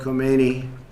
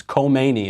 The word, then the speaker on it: Khomeini: The assets of Ayatollah Khomeini and his office will not be spared from the sanctions.